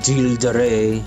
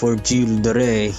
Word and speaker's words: Gilles de Rais: The other servants are 3-stars, which again, Giles or Gilles de Rais, I believe you pronounce his name like that.